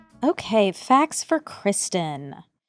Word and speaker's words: Cristin: I I didn't realize it was even pronounced Kristen.